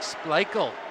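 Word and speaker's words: Splichal: clear that puck away SP that's spelled SP p l i c h a l sounds like spele in the Nets I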